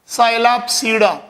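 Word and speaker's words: Psilopsida: पहला डिवीजन है, ये पी साइलेंट है, साइलैप्सीडा। सेकंड वन है लाइकाप्सीडा।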